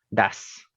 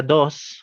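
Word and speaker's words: does: le sigue su contraparte das das das no se pronuncia dos se pronuncia das das das el siguiente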